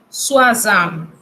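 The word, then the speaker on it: soixante: Si usted ve en una palabra O, I, usted debe pronunciar UA. Como en el número 60, que se dice Suazam.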